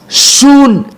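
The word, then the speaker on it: σύν: My dear brothers, my dear sisters, when we read the Greek translation with, soon transliteration, son. The pronunciation is soon, but the spelling is S-U-N.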